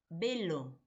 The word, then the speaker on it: velo: Ahora, en velo se escribe con V, pero cuando nosotros lo pronunciamos, ¿de acuerdo? Lo pronunciamos con B, velo.